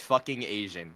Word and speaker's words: PhoKingAzn: Tenara, it's pronounced fucking Asian.